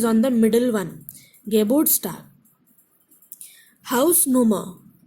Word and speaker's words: Hausnummer: Hausnummer. Second category. There are three syllables, stress is on house.